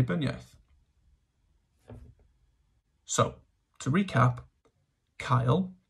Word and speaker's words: cael: yes so to recap Kyle pronounced like the boys named Kyle or like a scouser would say calf if you're a westerner